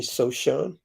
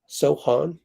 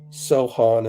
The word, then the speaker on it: Sochan: him six nine Jeremy sochan Sohan I guess you don't pronounce the C Eldon Johnson he's a